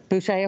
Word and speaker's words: Boucher: Is that how you pronounce his name? Boucher, okay.